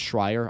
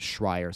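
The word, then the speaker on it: Schrier: I think it's Schreier. I was told by a resident of Washington in one of my comment sections a few months ago to Schreier, so I'm trying my best to not butcher the pronunciation of her name.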